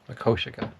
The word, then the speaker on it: Makoshika: I think I finally got the pronunciation. Makoshika.